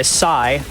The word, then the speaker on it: Psy: But this is Twisted Escape by Psy. Yes, it's pronounced that way.